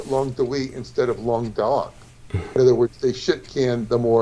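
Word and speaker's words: Languedoc: it longer though but long duck l-a-n-g-u-e-d-o-c that means tongue of the Ark and it sounds almost Vietnamese like long talk it sounds Vietnamese almost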